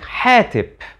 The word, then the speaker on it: hetep: the New Kingdom similarly the word hetep which appears very often and used in famous names like amen hotep and Imhotep well as an adjective meaning pleasing we know that it was actually pronounced something like hetip so let's rewind and